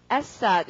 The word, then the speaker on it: asset: 그 다음 단어 발음은 asset 이고 강세 앞이고 자 이거는 미래 asset 이런 것처럼 돈에 대해서 이야기할 때는 주로 단수다 복수다.